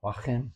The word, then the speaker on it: Hua Hin: How do you pronounce that? Is it Hua Hin? Hua Hin.